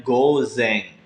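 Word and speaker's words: 午前: Jadi go ditambah kanji depan dibacanya gozeng.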